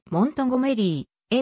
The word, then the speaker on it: Montgomery: オマハ出身の俳優モンゴメリーの発音はモントゴメリー mnt メートル ri で